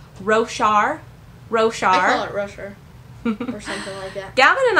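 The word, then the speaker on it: Roshar: we have a little bit different opinion in pronouncing the names of the story and the things so that's pretty funny so row char is the name of the world so do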